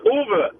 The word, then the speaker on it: Uwe: I apologize for getting your name wrong. Make sure it's Uwe or Uwe? Uwe. Huh? It's Uwe.